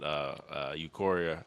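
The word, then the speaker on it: Ulquiorra: Bleach game that Ichigo's form that he fought Eukoria or yeah Eukoria is that the name? I can't never pronounce his name. Ukiora, yeah.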